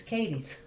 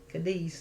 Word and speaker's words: Cadiz: pronounced different there okay in western kentucky it's katie's cads spell the same but it's not cadiz like in spain so why why did